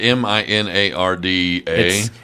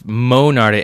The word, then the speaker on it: Monarda: Okay, is it Minarda? It's actually, that's probably my being in Texas for a while. It's Monarda, Monard. Let's see, Monard.